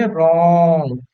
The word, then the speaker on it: wrong: अब इसका प्रोनाउंसिएशन जब करते हैं तो करते हैं रॉन्ग। रॉन्ग केवल बोलते हैं, का प्रोनाउंस नहीं किया जाता है। रॉन, रॉन हो जाता है, पर इसे रॉन्ग पढ़ लेते, रॉन्ग। गा बीच में रहता है।